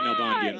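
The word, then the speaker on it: Nalbandian: eye on huey and no bandian sorry sorry oz pronouncing your last name just think of the old tennis player david nobody from argentina put in by waters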